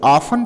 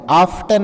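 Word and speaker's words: often: इसे क्या पढ़ेंगे बच्चों, ऑफन पढ़ेंगे, आफ्टन नहीं पढ़ते हैं, ऑफन पढ़ते हैं, यानी कि टी वर्ड क्या हो गया, टी वर्ड आपका साइलेंट वर्ड हो गया।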